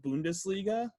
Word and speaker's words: Bundesliga: I believe it's called Bundesliga.